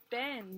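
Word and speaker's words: been: But really it's pronounced Ben.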